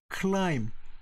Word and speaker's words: climb: 이것을 climb. B가 silent sound. 묵음이라는 거다 아시죠?